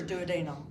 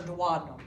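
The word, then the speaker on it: duodenum: It it nestles in to the uh first the most superior part of the small intestines which is the douadum or dadum. Both pronunciations are correct.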